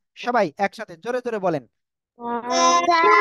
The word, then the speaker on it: ت: একসাথে জোরে জোরে বলেন তা মাশাল্লাহ মাশাল্লাহ ওকে এই যে তা অক্ষরটা এই অক্ষর আপনি নরম করে উচ্চারণ করতে হবে তা সা মাশাল্লাহ মাশাল্লাহ